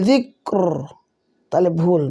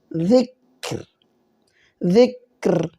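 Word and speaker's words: ذكر: ওয়াকফু করলে জিক জিক যদি বলি জিকর তাহলে ভুল মোটা হলো র আসরের শুদ্ধ উচ্চারণ হবে জিকর জিকর বিশেষ দ্রষ্টব্য তাসতিলা রতে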